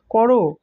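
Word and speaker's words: ক'রো: বিখ্যাত একটা গানের লাইন করো মাঝে উর্ধক কমা বসালে তখন তার উচ্চারণ হবে করো সাবধানে কাজটা করো বল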